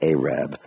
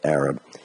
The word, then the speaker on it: Arab: this Arab oil embargo I think Mark Twain pronounced it a Reb but I was taught to pronounce it Arab so the Arab embargo